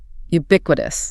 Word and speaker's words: ubiquitous: Ubiquitous pronounced ubi. We need to emphasize that initial u sound like the word u and that middle stress on beay ubiquit.